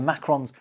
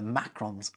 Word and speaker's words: Macron: on consonants and the Macrons on vowels. See, I'm not stupid. So please give a warm welcome to Macron. Excusez-moi. No, still not you. Although don't some Americans call you Macron?